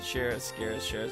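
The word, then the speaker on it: Schera: For pronunciation, Shara. Stop pronouncing the C.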